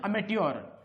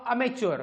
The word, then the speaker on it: amateur: म्हणजे आय डू इट ॲज अ अमेट्युअर. AMATEUR spelling लक्षात घ्या. AMATEUR अमेट्युअर किंवा अमेच्युअर. काही लोक अमेच्युअर असा शब्द करते. मॅच्युअर इमॅच्युअर वेगळं, हे अमेच्युअर आहे किंवा अमेट्युअर असंच वाचा, अमेट्युअर.